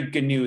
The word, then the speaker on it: Gnu: his name is gary gnu they actually pronounce the g with a hard g for the name of the character um so spreading fake